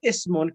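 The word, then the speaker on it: اسم: It's talking about if the word Ismun comes in the beginning of the sentence, the alif is pronounced, but when Ismun comes in the middle of the sentence or end of the sentence, the alif of Ismun and Ibnun becomes silent.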